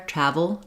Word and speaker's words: travel: V to the O this UL sound is a syllabic l basically it functions as its own syllable so I don't really need travel um not much vowel there travel travel because the first syllable is stressed the second syllable is shorter and reduced with more of the V sound um then when we're